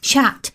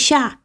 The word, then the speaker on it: chat: remember that I remember Ethan chat I kept pronouncing the T in cat chat it's not chat is shot okay say chat everywhere but anyway you you